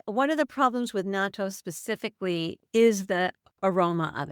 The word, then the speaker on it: natto: One is you gave an example of cultural foods like, is it natto or natto?